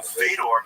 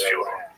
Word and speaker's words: Fyodor: Yeah, well, that's kind of the accepted American pronunciation of Fyodor, though. Right? So I wanted to ask you if it's Fyodor. Yeah, it is.